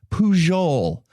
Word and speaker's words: Pujol: talking about today Juan puol Garcia PUO Garcia all right so who was Juan puhul Garcia po I know like Albert phol it's the I'm quite certain it's pronounced pool anyway he's from Spain